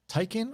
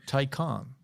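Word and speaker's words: Taycan: got him what you almost know is it pronounced tykan or tycon tycon both of you guys just said a different answer i've only heard it called tyken t-a-y-c-a-n peter says the room inside is fine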